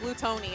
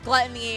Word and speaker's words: Glutonny: yeah he did confirm that his tag is pronounced like blue Tony I remember it was like a whole meme where people were saying oh you're saying it wrong and really it's gluttony and a lot of that but ya know